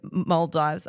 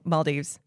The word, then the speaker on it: Maldives: that part you did then go to the mives I'm gonna say it wrong Mal Dives Maldives it is males not Maldives not mives